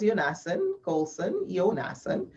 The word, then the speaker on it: Yonason: The ethics presentation, that was Yonason. I keep with my accent. We pronounce the yo.